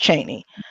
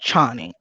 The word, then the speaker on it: Chani: It's actually pronounced Cheney, but my dad pronounces it Chani.